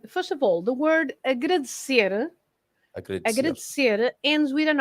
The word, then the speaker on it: agradecer: Okay, so first of all, the word agradecer ends with an R, right? Okay. So when the word ends with an R, like agradecer, we stress the end. So it's agradecer at the end.